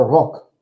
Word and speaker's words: Rock: Der Rock. Der Rock. So the word for necktie is feminine, die Krawatte. The word for skirt is masculine, der Rock. Just like the word rock, but just pronounced differently.